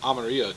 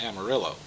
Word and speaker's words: Amarillo: to um if we have to call everything by its Spanish pronunciation it would be there there would be Amaro Texas not Amarillo I I don't like that complete terrible way to pronounce it but you know it's